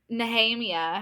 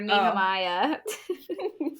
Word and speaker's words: Nehemia: No, it was Nahhemia. I called her Nehemiah.